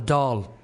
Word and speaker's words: Dáil: I mean, they call it Dáil Éireann over here, but it's not actually Dáil.